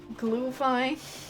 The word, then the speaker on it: Glühwein: No, like, glue as... I can't say it properly because I'm terrible at German. I almost said Spanish, which would also be true, but irrelevant. But, like, glue, like, G-L-U with an umlaut, and then H.